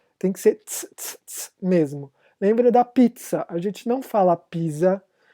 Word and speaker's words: pizza: Ou vocês chamam aquela coisa maravilhosa de comer de pizza, ou a pronúncia certa é pizza.